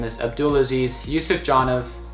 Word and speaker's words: Abdulaziz: My name is Abdulaziz Yusuf Janov. If you just type in Abdulaziz into YouTube, it'll come up, and just as it sounds.